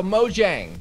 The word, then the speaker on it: Mojang: converting them because like ever since day one I've said Mojang I'm like I'm American man I pronounce my G's not as guys got